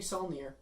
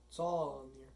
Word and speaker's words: Saulnier: Alright, so the first film we're going to cover is Green Room, directed by Jeremy Saulnier. Saulnier.